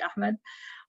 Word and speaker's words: Ahmed: then people like riz ahmed or ahmad i always i don't know how people in english pronounce some of the names i always say like in the arabic pronunciation which would be ahmed um so yeah there's